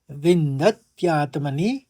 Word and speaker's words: विन्दत्यात्मनि: और आघात देने पर क्या हो जाएगा, द के ऊपर आघात है तो विन्दत, फिर त्यात्मनि, तो थोड़ा सा बदल जाता है यहाँ पर उच्चारण। विन्दत्यात्मनि यत् सुखम्, विन्द्यत्यात्मनि यत् सुखम्।